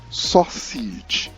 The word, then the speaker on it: sausage: something edible it is correctly pronounced sausage or say sausage sausage sausage sausage take